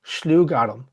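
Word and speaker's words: sluagh-ghairm: This is a very, very interesting word because it's combined of two different words. Slooh. S l u a g h and garam. G h a i r m.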